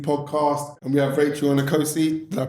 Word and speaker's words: Onikosi: Here we are, LITC podcast, and we have Rachel Onikosi. Did I pronounce it right? Onikosi, you did. Onikosi.